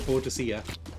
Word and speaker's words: Boadicea: My girlfriend got a book about, well, there's two different ways of pronouncing this name. Boudica or Boadicea.